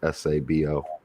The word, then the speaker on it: Sabo: My mom's second husband, the dude she was married to briefly, his last name was SABO, pronounced Sabo.